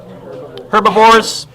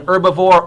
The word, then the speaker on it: herbivore: Herbivores. By the way, the H is silent or not. You can call it an herbivore or a herbivore.